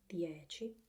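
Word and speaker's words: dieci: these two words DHE or it should be pronounced the edgy and Cucina we focus we focus on C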